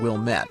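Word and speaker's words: Ouilmette: Antoine Wilmette, that's spelled O-U-I-L-M-E-T-T-E, was a French-Canadian fur trader and one of Chicago's first settlers.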